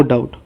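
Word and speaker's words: doubt: A trick रे कौन अच्छी when there is equality no डाउट डाउट जो लिखुंट से डाउट लिखला टाइम रे बी को आप साइलेंट रखिए बुझिपारे।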